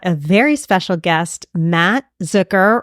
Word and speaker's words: Zucker: Today, we have a very special guest, Mat Zucker, rhymes with hooker, correct?